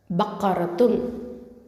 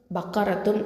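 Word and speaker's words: بَقَرَةٌ: அர்த்தம் பசுமாடு இல்லைன்னா மாடு அதை வந்து எப்படி உச்சரிக்கணும் ப ஃபத்ஹா ப காஃப் பத்ஹா கா ப கா இது வந்து நல்லா ஹெவியா சொல்லணும் ஓகேவா ரா பத்ஹா ரா இதுவும் ஹெவியா சொல்லணும் வாயை நல்லா ஓபன் பண்ணி சொல்லணும் அதுக்கப்புறமா த மர்பூத்தா இருக்கு இல்லையா த மர்புதா மேல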